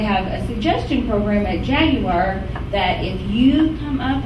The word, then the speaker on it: Jaguar: Jaguar, that's how they pronounce it in Britain, is Jaguar. And they think that we weren't it by saying Jaguar. It's not Jaguar.